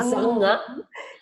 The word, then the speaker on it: Zange: And Ruth Zange.